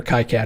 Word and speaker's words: KiCad: is he said um I don't care if you call it key cat or kai-cat as long as you're using it it's like okay that's